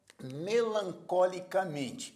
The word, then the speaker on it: melancolicamente: uma palavra paroxítona então na palavra melancolicamente a sílaba tônica é mem por isso é uma